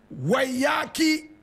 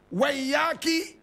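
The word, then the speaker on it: Waiyaki: to call herself Wambui Wayaki Otieno Mbugua. You want to hear it again. Wambui Wayaki Otieno Mbugua. Wambui is spelled W-A-M-B-U-I. Wayaki is W-A-I-Y-A-K-I.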